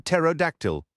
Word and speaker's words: pterodactyl: The P is silent, Tanu said, like in pterodactyl.